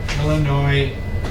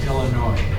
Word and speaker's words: Illinois: Illinois. That is pronounced with no sound for the S. Illinois.